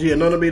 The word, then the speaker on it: Anunoby: OG Anunoby, that's how you say his name.